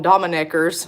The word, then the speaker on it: Dominique: That's like Dominique chickens. We call them Domineckers.